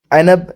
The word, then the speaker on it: عنب: Number پر انگور ہے، جس کو عنب یا عنب یا انب کہتے ہیں۔ تینوں تلفظ ہی صحیح ہیں۔ انگور ایک ایسا پھل